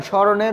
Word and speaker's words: স্মরণ: স্মরণ স্মরণ শ্মশান শ্মশান এখানে যে স্মরণ এটা হচ্ছে উচ্চারণ স্মরণের উচ্চারণ হচ্ছে স্মরণ এখানে হসন্তর ব্যবহার করতে হবে হসন্ত না দিলে উচ্চারণটা ভুল হবে কারণ এটা হচ্ছে একটা